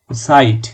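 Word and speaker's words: Zeit: চার পাঁচ ছয় এগুলো আইনস আইফের এগুলো হ্যাঁ সাইট সাইট হচ্ছে সময় এই জিনিসটা কত যে ভুল হয় অনেক লোকজন আছেন যারা অনেক হায়ারকা জাইট জাইট জাইট বলতে থাকে যেমন ভাষায় সেটের উচ্চারণ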